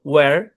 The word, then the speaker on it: where: থাকে শব্দের শুরু, মানে WH যদি একসাথে থাকে, আর বিশেষ করে শব্দের শুরুতে আমরা দেখতে পাই যে এইচটা সাইলেন্ট থাকে।